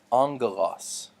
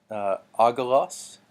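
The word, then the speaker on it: ἄγγελος: so this word that we're looking at is angle loss we might be tempted to say Agha loss and just pronounce that G twice but really this is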